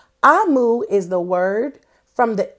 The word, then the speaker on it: Omu: It's spelled O-M-U, but it's pronounced Amu. Amu is the word from